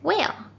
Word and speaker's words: whale: Well, the H is not pronounced or is silent when it comes after the W.